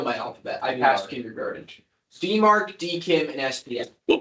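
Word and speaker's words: DMARC: Demark DKIM and SPF. Like to pronounce the first one.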